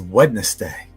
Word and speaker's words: Wednesday: oneness day who says wednesday maybe everyone maybe it's just me i don't know i don't wednesday actually the d is kind of silent uh as far as